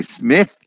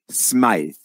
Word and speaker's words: Smith: La façon que c'est appelé, ça devrait se prononcer Smith, mais pour une raison bizarre, mes ancêtres ont décidé que ça se prononçait Smythe.